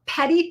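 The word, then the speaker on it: petit theft: Here in Florida, we have a petty theft. And I know it sounds like petty, Petty, Petit. That's how we spell it here in Florida, petty theft.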